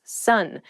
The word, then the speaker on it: son: male child is someone's son sun s-o-n is pronounced exactly the same as s-u-n-sun what are you talking